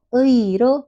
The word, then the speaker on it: 의: Jadi 의는 낱말에 처음절에서 의로 발음한다. Jadi 의 ini 발음한다 diucapkan atau dilafalkan sebagai 의 tetap ya.